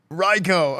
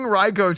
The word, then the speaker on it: RICO: Um Okay, so they're pursuing Reicho charges. which is like Yeah. Yeah. Um that's wild. They're going damn. Yeah. Reicho. Rico. I've always called it Reicho. But chat, you guys are all pronouncing it wrong.